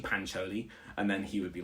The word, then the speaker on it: Pancholi: South African accent but he used to pronounce it like that and then I was like I always used to be like it's actually pancholi and then he would